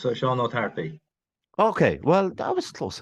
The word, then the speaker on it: Seán Ó Tarpaigh: Well, it depends on what dialect. If you're Munster or Connacht, I'm Connacht, so it's Seán Tarpaigh.